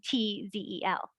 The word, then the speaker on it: Rentz: So Renzel and Rentzel. Yes. Remember how I said that Z is pronounced like a TS, a T? So really Renz and Rentz would have been pronounced exactly the same in German.